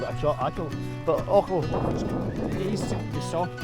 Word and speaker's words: Achall: So basically I'm heading up here up at, James just told me it's Loch Ochel. A is a soft pronunciation, it's Loch Ochel.